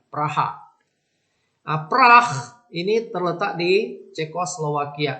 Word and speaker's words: Praha: ibukotanya di Hai Pras bahasa Indonesianya Ya dikasih hal dikasih alami supaya enak bacanya Praha APRA ini terletak di